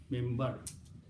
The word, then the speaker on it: minbar: When you pronounce the word mimbar, it is actually minbar. Mim noon, bara, but you pronounce mim, mimbar.